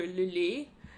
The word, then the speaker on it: Lily: I actually did something like that for Lily, one of the characters for the game, Steven. Like, his name is spelled like this, and it's pronounced the French way, like the French composer Lily.